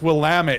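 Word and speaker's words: Willamette: that it's like it's willit if you're from the Northwest you know it's willit is how you say it and they call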